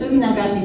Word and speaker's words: Suminagashi: than anybody else and without feeling like I mispronounce anything. It's Suminagashi, so if you don't say it right, I will sue you.